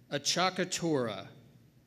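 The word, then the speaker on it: acciaccatura: Pronounce it again, please. Sure. Achacatura.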